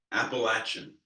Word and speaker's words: Appalachia: West Western North Carolina in the Appalachian Mountains appalachin it's anyone who's from there we'll tell you